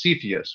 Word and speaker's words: Cepheus: from cygnus into cyphus uh i think it's pronounced cepheus right uh scott i think that's right that's